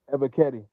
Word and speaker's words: Ebiketie: Ebiketie.